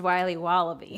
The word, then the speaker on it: Wiley Wallaby: Wally's will be wobba beats pronounced Wiley wallaby well it's very good it's called Wiley wallaby and it's delicious in